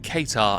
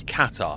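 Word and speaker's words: Qatar: I originally said Katar and people corrected me and said it's Katar. Thank you for the pronunciation correction.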